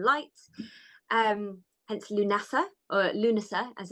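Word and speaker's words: Lughnasa: the Sun and light um hence lunasa or lunasa as it's correctly pronounced and that literally means assembly of Lou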